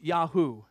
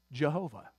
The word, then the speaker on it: Yahweh: it yahoo uh but we don't know exactly how it is pronounced but Yahweh is our best guess now the English way to pronounce that anybody know Jehovah Jehovah that's the English